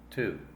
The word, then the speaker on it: to: When you speak English, relax your mouth. Let that U sound open up. Watch my lips when I pronounce both versions. Espanol, tú. English, to. Tú, to. Tú, to. Relax. The lips are not so round.